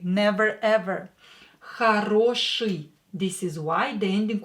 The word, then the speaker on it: хороший: And today's word is хороший. Хороший. Хороший. Хороший. Here you hear I after sha, right? Хороший. Хороший. But for some reason we write I.